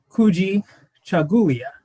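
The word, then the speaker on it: Kujichagulia: the second principle of kwanzaa and it is pronounced kuji chagulia which means self-determination and an overarching uh quote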